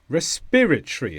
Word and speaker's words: respiratory: a political outcome respiratory respiratory is an adjective and the stress is on peer respiratory and this is to do